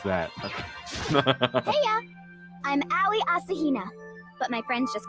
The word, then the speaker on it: Asahina: you go ahead and tell me how you pronounce that I'm Allie Asahina but my friends just call me your